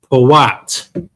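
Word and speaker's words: פוט: How do you pronounce that in Hebrew? Powat.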